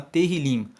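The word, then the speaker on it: Tehilim: O livro de Salmos, no texto massorético, se chama Terrilim. Se escreve T-E-H-I-L-I-M.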